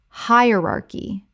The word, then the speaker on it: hierarchy: Correct pronunciation. Hierarchy. Four syllables with the stress on the first. The c h makes a k sound.